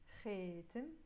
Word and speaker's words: خاتم: خاتم, but in Lebanese we will pronounce it خاتم, which is a ring.